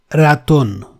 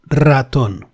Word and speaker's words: ratón: That can never be pronounced as ratón. It has to be rolled, ratón.